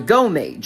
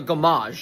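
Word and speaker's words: Gommage: And she's the reason for the go mage. Also correct, except it's pronounced the gumage.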